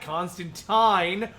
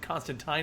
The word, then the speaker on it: Constantine: fun uh citizen Je Constantine or teen or whatever you want to say because it's actually pronounced tin for those of you